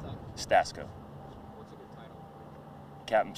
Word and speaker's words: Stasko: How do you pronounce that? Stasko.